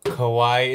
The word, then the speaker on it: kawaii: Oh, Kawaii. It's spelled K-A-W-A-I-I, like Hawaii, except instead of an H with a K.